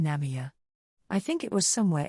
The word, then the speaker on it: Namiya: with some neighborhood kids they kept mispronouncing the store name namami namami as in problems problems there's a line